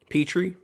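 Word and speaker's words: Pitre: even though he's secondary jaylen peter is that how you say his name scott is it peter petrie petrie thank you i think nfl will undervalue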